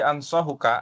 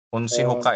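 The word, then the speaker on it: انصحك: Kemudian walladzi ansahuka, ini bacanya ansahuka ya Mas, bukan apa tadi? Antum baca unsihuka ya.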